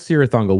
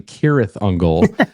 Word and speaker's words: Cirith Ungol: Rings lore, of course, but they pronounced it wrong as their own band name. It's actually Cirith Ungol, which to me adds